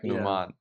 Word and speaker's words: Numan: we change it because I don't want to be called Newman I like Numan I don't like Newman I don't like